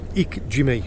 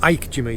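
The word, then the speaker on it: ikejime: But if you want to know the methods that I do, Google Ik Jimmy or Ike Jimmy, depending on how you pronounce it.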